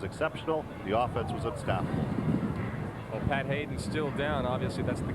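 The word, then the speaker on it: Haidon: his feet not h-a-d-e-n though it is pronounced the same as pat hayden the former rams quarterback now a broadcaster with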